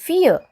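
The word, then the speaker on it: fille: a woman seth yoon fear it is a girl so your l is silent fear so here we saw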